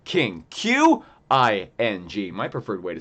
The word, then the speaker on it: Qing: That's the Qing Dynasty. Q-I-N-G. King.